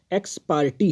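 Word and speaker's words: ex parte: Pronunciation ध्यान देंगे, एक्स पार्टी है इसका प्रोनाउंसिएशन, PARTE लिखेंगे, बट इसको पढ़ेंगे एक्स पार्टी।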